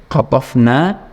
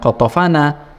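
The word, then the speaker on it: قَطَفْنَا: Qatafna, ya, dari kata qatafa, kemudian nahnu, ya, qatafana, ya. Nah, qatafna dari kata qatafa, memetik, kemudian plus dhamir bacanya bukan qatafana tapi qatafna, mabninya bukan mabni fathah tapi mabni sukun.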